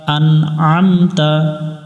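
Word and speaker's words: أَنْعَمْتَ: এখানে আমরা যে ভুল করি, প্রথমে হামজা আছে, হামজা দিয়ে নুন উচ্চারণ করার সময় এখানে পড়ব আন, এরপরে আইন, এটা গলার মধ্য থেকে একটু চেপে পড়তে হবে আম।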